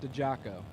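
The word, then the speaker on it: Diciacco: yeah this name is spelled d-i-c-i-a-c-c-o but it's pronounced the Jocko yeah help I need that that doesn't make any sense nope but Been Told so James dejaco right hand side and Trail Synchro left hand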